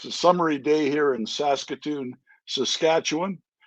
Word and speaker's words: Saskatoon: So, that's how you pronounce it. Was it Sasokun? Sasokun. Saskatoon.